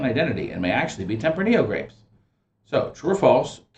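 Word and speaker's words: Tempranillo: are suspected mistaken identity and may actually be tempranio grapes so true or false California that's the proper pronunciation grapes from the Central Valley are suspected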